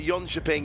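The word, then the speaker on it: Jönköping: I'm pronouncing it badly, but Yonchaping is vaguely correct.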